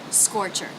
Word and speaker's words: scorcher: r consonant score score and the second unstressed syllable the CH C Sound schah R sound ch ch ch scorcher you can also say it's so hot you